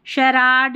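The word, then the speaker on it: charade: देखिए स्पेलिंग अटपटी सी है, कुछ एक स्पेलिंग काम में आती है, फिर भी एक बार देख लें। शराड, ये है शार्लटन, ठीक है, शार्लटन।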